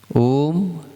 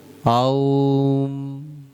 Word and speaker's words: ओम: कई लोग बोलते हैं ओम आओम। सही अगर उच्चारण देखा जाए ना, जैन धर्म का ओम, क्योंकि ओम तो सभी जगह है, तो इसको बोला जाता है आओम।